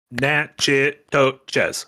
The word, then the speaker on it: Natchitoches: Fungus Finder gives $2 and says, all right, wise guy, how many syllables in Natchitoches? I don't know how you're supposed to pronounce that, so I couldn't say. Natchitoches. 4.